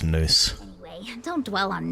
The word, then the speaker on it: Nous: I always pronounce that now, so I'm gonna have to remember it's Noose.